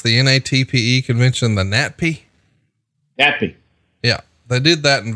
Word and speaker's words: NATPE: And it's about the, how do you pronounce the NATPE convention? The NATPE? NATPE.